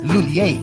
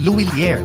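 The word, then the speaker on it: Lhuillier: English speakers commonly pronounce it as Lulier. But for Filipinos, mas madaling ibigkas ang Luilier.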